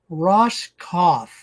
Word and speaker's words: Roskopf: We're visiting with Ross Kauf. So, the P is silent.